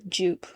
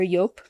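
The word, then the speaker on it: Joop!: think he would wear Jupe, or I think it's actually pronounced Yoop or Yop. It's like a German brand, I think.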